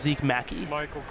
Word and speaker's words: Zeke Mackey: Oh, and it is pronounced Zeke Mackey. Zeke Mackey, all right.